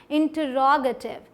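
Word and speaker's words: interrogative: इंटरोगेटिव, साथ में इंटरोगेटिव। कहाँ पर स्ट्रेस दिया? रोगेटिव, रॉ पर। देखिए ये निशान लगा हुआ है यहाँ पे, ठीक।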